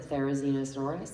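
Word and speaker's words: Therizinosaurus: Can someone here pronounce it? Therainosaurus.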